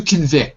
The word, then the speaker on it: convict: To convict, second syllable.